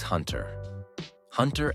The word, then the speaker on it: Hunter x Hunter: number seven Hunter x Hunter Hunter x Hunter pronounced Hunter Hunter starts out with a